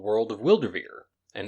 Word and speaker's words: Wyldrvir: tabletop rpg that's being developed called world of wildervier and it's spelled w-y-l-d-r-v-i-r you can find that on twitter